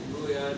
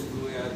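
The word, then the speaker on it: عمرو عیار: Origin story है, और अगर आप जो इसकी एक्चुअल प्रोनाउंसिएशन उम्रो यार की लिखते हैं वो उम्र यार है, लेकिन हम लोगों ने उम्रो यार कहना शुरू कर दिया।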